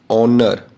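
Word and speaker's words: honour: यह कुछ वर्ड्स हैं जिनमें एच साइलेंट होता है। बोल के बताता हूं। ऑनर ओ की आवाज आ रही है।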